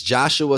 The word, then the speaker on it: Jeshua: by the way um it's joshua spelled with an e let's talk about it